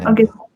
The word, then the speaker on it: Anindya: Anindya. That will make me. Anand, okay.